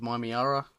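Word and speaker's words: Mymeara: Also, I just bought the Doom of Mimiara, which is how it's pronounced, and I love it.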